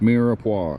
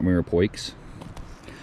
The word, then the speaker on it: mirepoix: Diced mirepoix. I think is how you pronounce that. I don't know. I'm not a smart man. But I know that's not Mirapoix.